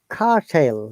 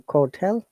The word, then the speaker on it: curtail: to join here uh it is cartel rather than cortell okay okay do you